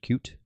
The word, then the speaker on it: Qt: qt package is cute it's pronounced cute um it's a graphics